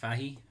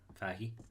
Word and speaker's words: Fahey: so mike fahey here fahi faki i think i think in the us is pronounced fahey anyway coz it kind